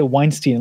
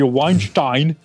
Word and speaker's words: Weinstein: pronounce it roughly but for Harvey Weinstein they say Weinstein like what the heck if you pronounce Harvey Weinstein yeah like it was sent up a red flag right Weinstein as opposed to Weinstein but I can't give